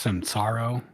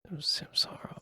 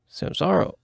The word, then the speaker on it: Samsara: The first thing I'd reply to him is, I think it's pronounced Sansaro. Samsara. Oh, Samsara. Oh, yeah. Oh. Yeah, you're right. Yeah.